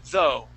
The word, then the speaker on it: though: at the end, and that would be though, okay? In each case, that GH is going to be silent, okay?